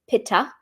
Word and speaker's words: Pitta: P DOA a person here in the west we pronounce it paa but P person is